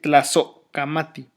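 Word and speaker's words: tlazohcamati: Se dice Tlazocamati. Esa H no suena la H de Tlasocamati, pero nos está marcando que hay un espacio de como de medio segundo entre Tlazo y Kamati.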